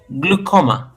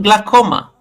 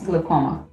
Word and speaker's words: glaucoma: Uh, without mentioning my glasses, yeah, first of all, the the A is silent.